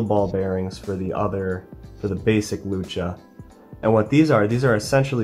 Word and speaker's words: Lucha: Yes, I pronounced it Lucha for once.